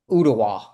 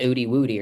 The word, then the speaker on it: Ooltewah: called it Oody Woody or something like that.